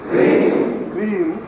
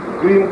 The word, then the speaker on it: क्रीम: और वह मंत्र है ओम ओम क्रीम Shri Shri Shri Shri क्रीम क्रीम क्रीम क्रीम ओम ओम समझा रहा हूं मंत्र को क्रीम का मतलब है सी आर ई ई एम ये क्रीम शब्द है